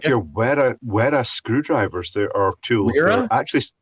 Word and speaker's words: Wera: your Wera screwdrivers. There are tools. Wera? They're supposed to be pronounced Vera, apparently.